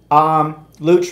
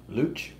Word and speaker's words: Luch: Luch rhymes with hooch.